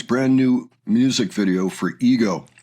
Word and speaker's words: Ego: And today we're going to take a look at The Warning's brand new music video for Ego. Ego is pronounced ego in Spanish.